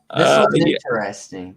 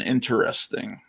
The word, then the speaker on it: interesting: uh um dave cooper you're one of the only people i know that pronounces every syllable and interesting most people say interesting they they leave out the uh and uh except for